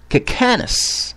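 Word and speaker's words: Kicanas: Cacanus, okay? I'm not mispronouncing it. This is his name. Bishop Cacanus. K-I-C-A-N-A-S. Cacanus.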